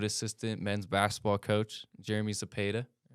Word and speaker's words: Zepeda: yeah and you know I get a lot of different pronunciations of my last name but I figured when I looked at the like the pronunciation guy I'm like that's pretty self-explanatory yeah no I get zapedo I'm like I need